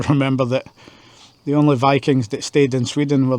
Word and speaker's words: Viking: If you don't know, Viking is not how you say it in Swedish or Norwegian. It's Viking. It's very high-pitched and squirrely. Uh the I is pronounced as a high E. So, it's Viking.